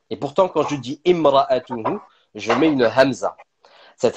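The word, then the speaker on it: امرأته: Alors vous entendez quand je suis en train de le prononcer, je dis imra'atuhu et pourtant en fait quand on lit le verset on dit wamra'atuhu passant du waw à la lettre mim.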